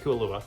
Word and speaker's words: Kailua: We went to the Kailua. I'm looking to make sure I'm saying it right. Kailua, she says it's right.